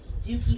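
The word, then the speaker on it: Dukey: Okay, Duke. Dookie, like a Duke, Duke.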